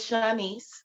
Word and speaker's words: Shanice: me how to say it my name is shaunice last name is um my business